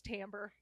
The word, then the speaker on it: timbre: couldn't even pronounce Timbre what is the the tambre like the tamber the tamber I've I literally don't know what this word is oh my gosh it's tamber you have such a